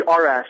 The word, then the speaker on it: Arash: your name wrong right actually Arash here's a little hint car crash without the seat ah there you go